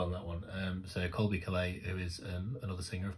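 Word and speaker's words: Caillat: I'm pretty certain as I pronounce it. I did discover this in the video. I think I guessed it was Calais, and it was. So I did well on that one. So Colby Calais, who is another singer, of course.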